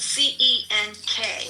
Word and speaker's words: Cenk: It's spelled C-E-N-K. Right, but in Turkish it's pronounced Cenk.